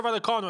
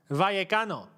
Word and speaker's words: Vallecano: Double L in Spanish is a Y, isn't it? Vallecano. Rayo Vallecano.